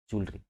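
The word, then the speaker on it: jewellery: एल ई आर वा जलरी कभी ए होता ही नहीं है इसमें ये मैं डेमो भर दे रहा हूं जलरी बोलते हैं ठीक है जे ई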